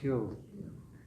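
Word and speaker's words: xil: And then these are just some vocabulary words like hill, that X-I-L, hill.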